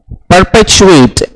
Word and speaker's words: perpetuate: is perpetuate not perpetuate if you use pre that comes with the spelling or pronunciation of pre it is not pre it is per p e r per head type